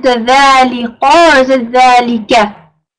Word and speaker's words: ذَلِكَ: Make sure that you say dhalika. Make them sharp, inshallah. Dhalika. Don't say le, say li, inshallah.